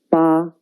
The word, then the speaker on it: 八: It means 8. The pronunciation is 八. 跟我读.